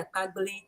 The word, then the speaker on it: Akpagbili: Kunda Kids, Book Nook by Nana Redamwa and Kofi Akpagbili.